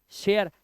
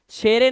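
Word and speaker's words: share: तो इसे हम पढ़ेंगे लाइक, लाइफ, शेयर, शेरे नहीं, मिके नहीं पढ़ना है, माइक, ई भूल जाओ, बाइक, बिके मत कर देना, बिके, फटे, फटे नहीं है, सिर्फ फैट, सिर्फ क्या है?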